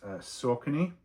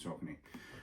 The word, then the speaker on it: Saucony: This is Saucony, which is how I am told it is pronounced.